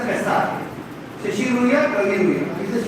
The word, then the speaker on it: Essar: When it is ESSAR, it is pronounced as SR.